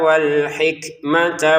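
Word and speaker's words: وَالْحِكْمَةَ: Waahullahul mulka wal hikmata waamahu mimma yasya. Wal hikmata langsung ke wau karena enggak ada alif ya.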